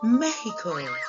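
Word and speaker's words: México: And in Spanish, it's pronounced Mexico.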